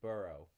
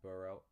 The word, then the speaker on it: borough: and then the last word is boro boro is basically yeah it's it's a little weird to say right borough it's it's a neighborhood